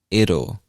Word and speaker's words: it'll: All right, the next contraction we're going to look at is it'll. It'll. And I know that sounds a little strange, but that's really how we pronounce this contraction.